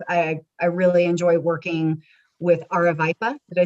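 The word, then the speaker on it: Aravaipa: it wrong, but the Aravipa special event application. Julie, can you correct my pronunciation? You're so close. Aravipa. Aravipa. You're basically there.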